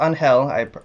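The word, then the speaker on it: Ángel: I believe it's pronounced Angel.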